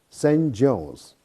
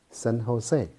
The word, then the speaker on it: San Jose: largest city in california is spelled as a n j o s e is not pronounced as saint jones but instead is pronounced in a spanish way san jose be aware of the